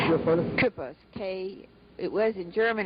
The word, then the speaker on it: Kueppers: Kueppers. It was in German. It's spelled K-U with an umlaut, P-P-E-R-S, but we spelled it K-U-E-P-P-E-R-S.